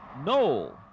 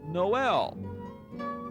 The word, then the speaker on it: Noel: most of the year folks call their town no but come December they start pronouncing it Noel and the post office